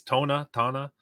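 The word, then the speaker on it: Toña: So it's pronounced, it's Tona.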